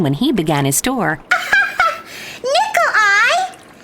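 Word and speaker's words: Nicolai: he began his tour nickel eye that's a funny first name did he have eyes that looks like nickels it sounds like that but it's spelled n-i-c-o-l-a-i boys and girls take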